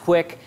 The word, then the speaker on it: QUIC: it is what it is so what is quick this is going to be a super quick overview quick I'm gonna no pun intended um then we'll talk about a little more later but it's pronounced quick it's a it's an attempt to do the